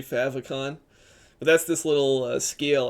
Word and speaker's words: favicon: if that's how people maybe people pronounce it like fave icon I'm not sure I always say favicon but that's this little